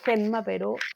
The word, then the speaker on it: Genma: Tengo a Genmao Genma en realidad porque en el doblaje le decían Genma se pronuncia Genma, el papá de Ranma.